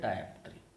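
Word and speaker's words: dioptre: अब इस पर मीटर को ही हम यहाँ पर बोलते हैं डायप्ट्री। अब इसको कोई डायप्टर बोलता है, कोई डायप्ट्री बोलता है, तो प्रोनाउंसिएशन अलग अलग होगा लेकिन मीनिंग इज द सेम।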